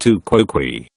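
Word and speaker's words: tu quoque: Pronounced to quoque.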